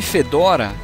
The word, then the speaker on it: Fedora: O nome Fedora, que em inglês eles pronunciam Fedora, vem de um chapéu.